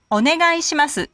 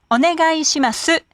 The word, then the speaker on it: お願いします: お願いします. It has 7 syllables. Please remember to pronounce ga separately from i. It's not guy, but ga i.